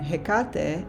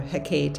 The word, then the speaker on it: Hecate: Demeter the mother and hekate another goddess or a Hecate however you want to pronounce it she's another goddess